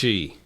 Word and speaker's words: Chi: It's pronounced Chi.